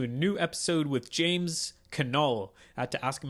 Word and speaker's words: Knull: new episode with james canal i had to ask him how to pronounce his name because the k is not silent for once uh but anyways james